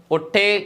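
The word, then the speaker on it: hotel: വിചാരിക്കും എ ആണെന്ന് വിചാരിക്കും പക്ഷേ ഹോട്ടലിന്റെ ഉച്ചാരണം ഒട്ടേൽ എന്നാണ് കേട്ടോ ഹായ എന്നല്ല അതിന്റെ ഉച്ചാരണം തുടങ്ങുന്നത് ഒട്ടേൽ എന്നാണ് ഓ ഒട്ടേൽ എന്നാണ് അതുകൊണ്ട് അതിന്റെ മുന്നിൽ ആൻ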